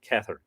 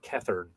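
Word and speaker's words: Cethern: here and to heal Kehern. Kehern or Kethern. Kehern, I think it would be pronounced.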